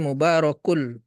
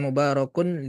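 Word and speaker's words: مباركٌ: dileburkan ya mubarokul liyaddabbaru jadi dileburkan tanwin dan tasdidnya ini karena kalau membacanya kalau disambung Jadi mubarokul bukan mubarokun liyaddabbaru bukan mubarokul liyaddabbaru ya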